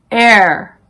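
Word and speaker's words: heir: The H is silent in these words: our, honest, honor, air, vehicle, exhausted, exhibit, rhyme, rhythm.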